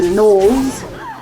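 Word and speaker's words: gnolls: that introduce us to the knolls um spelled with a g um it's like g as in gnome or g as in noble uh their large kind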